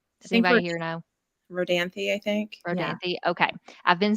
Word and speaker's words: Rodanthe: was younger I watched the movie Nights in rodante or Knights and rodents I don't know how it said does anybody here know Rodanthe I think okay I've been saying it wrong